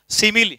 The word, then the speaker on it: simile: Speech जिसका नाम है सिमिली। इसका स्पेलिंग ऐसे होता है SIMILE। इसका उच्चारण आपको बहुत ध्यान से बोलना है, सिमिली।